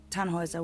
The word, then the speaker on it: Tannhauser: what's your name Tannhauser we'd pronounce it tan Wazza with an armload German